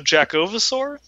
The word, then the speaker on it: Jackovasaur: Say it like Bulbasaur, so Jackovasaur.